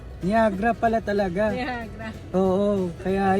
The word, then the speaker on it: Niagara: niagra eh kasi ganon ang basa nung iba Niagara niagra pala talaga niagra oo kaya yan Gusto niya i-pronounce Okay sige go nag-drive ako ng malayo